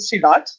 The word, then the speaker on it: silat: And the Indonesian main character uses I think that you pronounce it silat, which is like a very different, like everyone